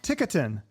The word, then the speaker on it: Ticotin: Welcome, Sahaj Ticotin. I practiced that. Did I say it right? You did. It all right. Like stick it in. It's what? It's like stick it in. Stick without the S.